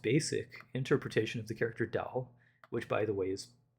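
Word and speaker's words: 道: So I'm not good at tones but um it's the the fourth tone anyway. So dao um anyway if you take a very very very basic interpretation of the term dao it means the leader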